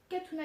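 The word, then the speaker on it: Khatouna: voir la chaîne de ma mère, qui est Katuna Gadelia. Voilà, juste c'est son prénom et son nom. Katuna, ça s'écrit K-H-A-T-O-U-N-A.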